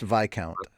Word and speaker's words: viscount: that slaves need food like anyone else it's pronounced VI count oh okay my counselor no okay gotcha wasn't